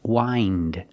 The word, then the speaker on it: wind: we hear the pronunciation with the long I for the present verb why wind wind in the present and